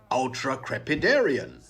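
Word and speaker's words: ultracrepidarian: never be an ultra crepitarian about the word ultra crepidarian happy new year well so now you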